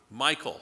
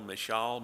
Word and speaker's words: Michal: Saul's daughter, Michael. That's how I would pronounce it. M I C H A L. Michall. Mhall. I'm not sure how she pronounced it, but she is not here to correct me, so I'm going to call her Michael.